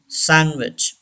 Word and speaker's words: sandwich: Sandwich. D should be silent.